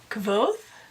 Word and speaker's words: Kvothe: Kvothe, I think is how you pronounce it.